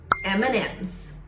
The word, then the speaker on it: M&M's: Então, pronunciamos M&M's. I love it! Em português, a gente fala simplesmente o som da letra M para nós, que é M. Então, o truque aqui é só falar o som da letra M em inglês, que é M.